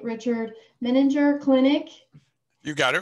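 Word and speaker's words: Menninger: a few decades he recently retired from um meninger i hope i pronounced that right richard meninger clinic you got it right awesome in houston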